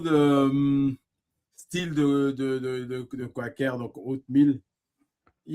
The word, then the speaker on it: Quaker: mais voilà donc mais normalement la vraie prononciation c'est Quaker hein c'est Quaker mais bon Voilà, on a pas le temps.